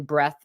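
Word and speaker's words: breadth: big surges in breath that's breath with a d i I can't pronounce it any other way than to say breath so I gotta point out that there's a D in it somewhere the D is silent evidently there was a pretty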